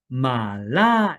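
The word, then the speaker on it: 麻辣: 중국식 매운 맛 소스인 " 마라 " 는 마라탕 이나 샤부 샤부 에 사용 되는 "Mala" 로 읽어야 합니다 . "Mala" 라고 읽어야 합니다 . "Mala" 는 말라탕 을 의미 하고 , "Mara" 는 여주 를 의미 합니다 .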